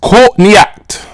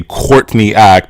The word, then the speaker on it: Courtney Act: a pun on on her name is a pun on caught in the act but you know us Americans we just we have to over pronounce those arse and we say Courtney act and so a lot of people don't get the pun but I think if